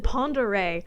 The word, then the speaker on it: Ponderay: And then Ponderay always gets people, where if you don't speak French, you have no chance of pronouncing it correctly.